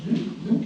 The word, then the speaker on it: Nuuk: Après j'ai fait des vraies petites maisons qui sont belles d'ailleurs au Groenland, de Nuuk, la capitale, Nuuk. Ça s'écrit M-U-U-K, mais ça se prononce Nuuk, ouais, c'est rigolo.